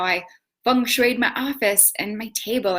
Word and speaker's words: Feng Shui: But I'm just going to do what I normally do and call it Feng Shui.